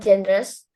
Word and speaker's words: genre: I like all genres, but not for horror genre. Genre ya bacanya. Genre, yeah. Genre. Itu genre dalam bahasa Yeah. Inggris itu genre. Jadi Genre. bacanya pakai Z.